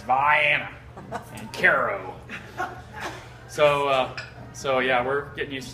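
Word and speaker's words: Cairo: the country of Southern Illinois, where we don't pronounce any of the city names correctly. It's not Vienna, it's Vienna and Caro.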